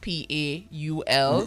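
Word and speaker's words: Pol: And by the way, his name is spelled P-O-L. Yes. Yeah. So even though it's pronounced, it sound like P-A-U-L. Which is how they pretty much pronounce it in England.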